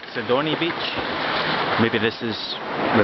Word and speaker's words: Sidoni: Let's just check that this actually, I'm pronouncing this properly. Yes, Sidoni Beach, which I think means sheet for a bed.